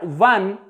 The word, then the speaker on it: one: Although this word 1 begins with a vowel letter, but it produces a V sound. It produces a V sound when we pronounce this word. And V sound is a consonant sound.